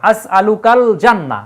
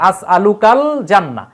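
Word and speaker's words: أسألك الجنة: এই যে লামের উপর একটা সুকুন চলে আসবে আসলুকাল জান্না এই যে লামের উচ্চারণটা হচ্ছে কিন্তু আসলুকাল জান্না কিন্তু এই জায়গায় দেখেন মিনান্নার আলিফ লামের কিন্তু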